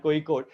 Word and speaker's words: Kozhikode: That's how we're supposed to pronounce it. So IIM Kozhikode.